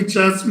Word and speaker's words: chasm: में, इसको हम लोग कभी कुछ लोग काज़्म भी पढ़ते हैं, कभी चैज़्म भी पढ़ते हैं, दोनों तरह से प्रोनाउंसिएशन करते हैं।